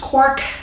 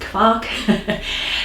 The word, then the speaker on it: Quark: how you can make german clock sometimes it's pronounced cork in german it is pronounced clock so whichever you do um it is this